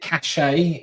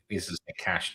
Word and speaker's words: cache: I know it's it's is it cache? Is that like the proper pronunciation? Because it's French. No, cash. No cash. You want to add a cash in English it's cash.